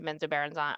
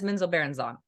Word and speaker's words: Menzoberranzan: time for the group that we went into Menzoberranzan, or I can't say it right. We're just gonna go. No. You are. I listened to both R.A. Salvatore and others. He says Menzoberranzan.